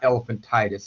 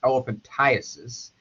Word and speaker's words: elephantiasis: Well, it's mispronounced quite a bit as elephantitis. It's not elephantitis. It's elephantiasis. And elephantiasis is a tropical disease caused by a filarial worm or filariasis worm.